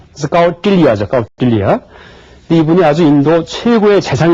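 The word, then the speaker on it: कौटिल्य: 그래서 이 점이 친 발음은 혀 끝을 입천장에 대서 소리를 내면 됩니다. 그래서 까우틸리아죠.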